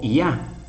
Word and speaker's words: Yah: nombre ya que significa llave suena como ya por eso decimos en